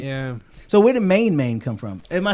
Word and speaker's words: MainMain: Oh, see, I'm actually reading it the way you spelling it, but it's actually MainMain. I'm pronouncing it wrong then.